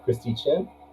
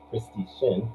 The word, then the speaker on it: Christy Shin: we're going to have christy chin christy shin my bad all right let's pronounce